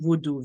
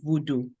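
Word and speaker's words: Vodou: the the the spiritual tradition in Haiti is pronounced as Haitian Voodoo v o d o u Voodoo vo however the origin and Foundation of that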